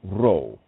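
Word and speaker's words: ruach: nature take its course roow means Spirit breath pronounced roow creation itself so if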